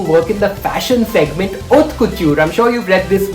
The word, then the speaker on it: haute couture: It's not haute couture, the H is silent, it's haute couture, okay?